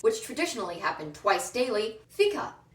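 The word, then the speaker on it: fika: traditionally happened twice daily FICA it's just coffee with the syllables switched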